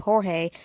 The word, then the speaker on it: Jorge: Most of his fan base and newcomers usually mispronounce his username as George instead of Jorge, which is how it usually pronounced.